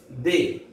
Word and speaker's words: deux: 2 DEUX they.